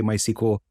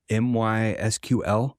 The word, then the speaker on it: MySQL: out there that's just every time we say my sequel it could be also m-y-sql right or MySQL that's also another apparently that's what Oracle says on their site is the standardized pronunciation but after saying my